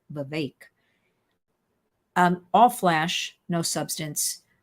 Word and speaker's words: Vivek: because I finally learned how to say his name correctly he said it rhymes with cake Vivek um all Flash no